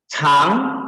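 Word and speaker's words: 长: Nah, yang K bacanya chang. Kalau chang itu artinya panjang. Nah, dia yang di huruf Mandarin yang K ini, dia bisa dibaca belainan. Maksudnya, kalau dia dibaca chang, itu artinya panjang.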